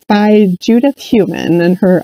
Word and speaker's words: Heumann: too it's by judith heumann and her i love that her last name is human I believe it's spelled